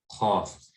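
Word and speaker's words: قاف: So it's not qaf, qaf, qaf. Rather, it's qaf, okay?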